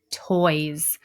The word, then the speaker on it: toys: And I want to hear that Z sound at the end, even though it's not a Z. So fingers up. Let's do it. T-oy-z. Toys.